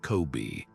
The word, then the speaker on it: COBE: That map arrived thanks to a satellite called the Cosmic Background Explorer or Cove, pronounced Kobe.